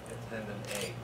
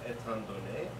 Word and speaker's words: Étant donnés: and uh i mean rob calls it attendant a like it's in french it's uh ethan donae like the given facts